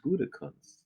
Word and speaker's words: Gutekunst: It's Gutekunst.